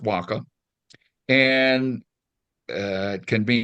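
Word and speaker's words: huaca: the way and it and it um um pronounced Waka and uh it can be natural features man-made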